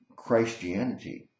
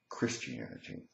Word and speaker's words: Christianity: to explain to you why I pronounce the word Christ him rather than Christian and I pronounce the word Christ the entity rather than Christianity if you've watched my videos you maybe have noticed that and I'm hoping that other people will adopt this way of pronouncing the word the reason I do it is because it emphasizes Christ I mean after all